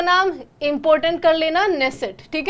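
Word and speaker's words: Knesset: Israel की संसद का नाम, तो इजराइल की संसद का नाम है नेसेट। नेसेट हमारी बहुत ही ज़्यादा फ्रेंडली कंट्री, और ये स्पेलिंग KNESSAT, ठीक है, नेसेट, ये याद रख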